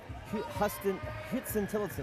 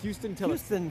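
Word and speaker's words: Huston–Tillotson: Our next home game, October 12th against Houston Tillotson. I said that name wrong. Houston Tillotson. Houston Tillotson University. It's not spelled like Houston, that's what it is.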